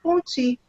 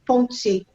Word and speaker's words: Ponty: Apesar da possível herança francesa, penso que a pronúncia do sobrenome do Eric é mesmo Ponty, paroxítona, e não Ponty, a maneira francesa.